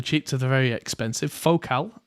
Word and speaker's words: Focal: Focal. Apparently it's pronounced Focal and not Focal, which is I learned recently.